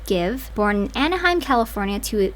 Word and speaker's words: GXVE: Gwen Stefani is a 53-year-old American singer, songwriter, fashion designer, and founder of GXVE Beauty, pronounced Give, born in Anaheim, California to Italian-American Dennis and Irish-American Patty.